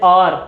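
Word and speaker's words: hour: जैसे आर, घंटा, ठीक है, घंटों में हम इसको आर पढ़ते, हार नहीं पढ़ते, एच इसमें नहीं पढ़ते हम, ठीक है।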